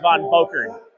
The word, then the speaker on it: Von Boker: They still can't say his name right. It's pronounced Von Boker.